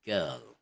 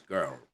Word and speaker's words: girl: Okay, RL words like girl, hurl, etc. are pronounced as one syllable with silent R. Okay, so it's going to be girl, not in American, it's girl, or in Scottish, girl.